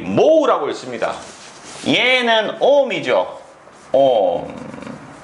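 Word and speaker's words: mho: 컨덕턴스 G 모우라고 있습니다. 얘는 ohm이죠. ohm. 얘를 거꾸로 디비었네. 그러면 이 글자도 어떻게 돼? 글자도 거꾸로 합니다. 그래서 얘는 모우라고 읽고 얘는 ohm이라고 있습니다.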